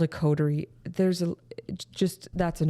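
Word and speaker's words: coterie: that can do it uh it's called a codery there's a just that's an important word maybe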